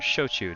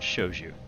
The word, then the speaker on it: shochu: Also, to be clear, we're talking about shochu, not shoju, right? Yeah. I think technically they're the same thing, but one is the Korean pronunciation and spelling, the other one is the Japanese.